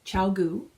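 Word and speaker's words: ChiaoGoo: patience well I thought I'm not the only person who's wondered how to pronounce it going online and yes there are people who have phoned them and it is ciao goo and i try out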